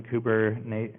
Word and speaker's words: Kubernetes: their termin ology recently but here's here's the pronunciation kuber netes NES uh which is Greek for pilot or